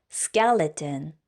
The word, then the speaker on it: skeleton: 발음할 때는 앞에 스이라고 하지 않고 쌍기역 스로 발음해 줄게요 skeleton skeleton 해까까 잠깐 보 발음할 때는 끝에 우 발음을